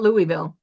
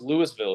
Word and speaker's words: Louisville: If you look at Louisville, um, And that's not Louisville. it's not Louisville. It's spelled the same, but Right. it's pronounced Louisville here.